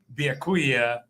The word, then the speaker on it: Byakuya: Are you excited to play Byakuya Yeah, I said it right.